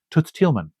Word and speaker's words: Toots Thielemans: I know how to pronounce his name Toots Thielemans.